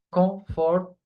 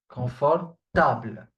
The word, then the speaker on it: confortable: It is the same word as in English, but try to not do the mistake of pronouncing it comfortable. Okay? Many do this mistake. Comfortable. Table, not comfortable. Confortable.